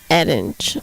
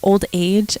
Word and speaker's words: Adage: Yeah, we get like Adage a lot, or like Old Age, and I'm just like, really? There's a D in there.